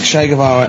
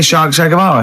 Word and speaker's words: Che Guevara: Che is like shake, and his surname is like guitar.